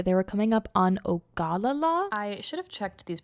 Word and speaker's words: Ogallala: were coming up on Ogallala. I should have checked these pronunciations before I recorded the video, but it's Ogallala, not Ogallala. Ogallala makes much more sense. That's how it's written, it sounds wrong.